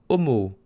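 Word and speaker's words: 思う: Ça se prononce avec deux O.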